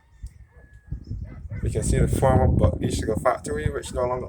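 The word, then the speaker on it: Bulkeley: Buckley is spelled B-U-L-K-E-L-E-Y. Many people spell it as B-U-C-K-L-E-Y, but it is spelled B-U-L-K-E-L-E-Y. Buckley. Buckley.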